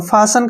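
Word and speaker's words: fasten: बाद न आया है जब भी टी के बाद न आता है तो टी वहां पर साइलेंट हो जाता है ए का उच्चारण क्या करेंगे हम दोस्तों फ ऐसे फ ठीक है ना फ एस का उच्चारण श ठीक है ना और टी साइलेंट हो गया न का उच्चारण न हो जाएगा फास क्या पढ़ेंगे इसको फास और फसन का जो हिंदी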